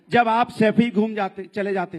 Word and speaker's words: सैफई: आनंद, गरीबी देखनी है ना तो सफाई में जाके देखिए, 500-600 करोड़। सैफई तो बोलना सीख जाओ, सफाई नहीं है सैफई है।